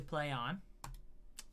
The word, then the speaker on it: Plaion: Yeah, it's not spelled Play On, but it's going to be pronounced Play On. Plaion.